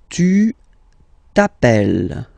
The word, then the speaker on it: t'appelles: Alright, second form, tu t'appelles. Okay, remember, final S not pronounced. Tu t'appelles.